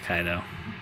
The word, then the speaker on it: Kaido: So that's how you pronounce it, Kaido.